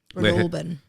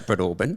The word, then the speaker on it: Breadalbane: Breadalbane. Sorry, Breadalbane. Breadalbane. So it should not be pronounced like that, but it is. It shouldn't. We No, just it's- leave out a few letters. It reads Breadalbane.